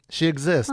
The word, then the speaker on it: Shexist: People say Shexist, I think. I think it's fun. I'm like, oh, well. Oh, I knew right away. She Exists.